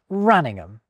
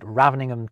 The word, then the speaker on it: Raveningham: My enormous thanks to the people of this small village in the English county of Norfolk for pronouncing their home Raningham. Some people definitely pronounce it Raveningham, too.